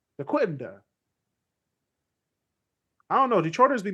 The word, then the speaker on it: Dequindre: And they go, Dequindre? I don't know. Figure it out. Like, guys, it's French. It's a French city. Come on. You know this. Dequindre.